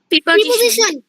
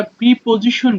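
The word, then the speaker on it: preposition: হ্যাঁ, আমরা দেখি এটাকে আমরা প্রিপজিশন বলি, বা শুদ্ধ হচ্ছে প্রে, প্রেপজিশন। হ্যাঁ, এটা প্রে দিয়ে শুরু হয়, পি আর ই কে, এখানে প্রি না বরং প্রেপজিশন, এটা শুদ্ধ উচ্চারণ।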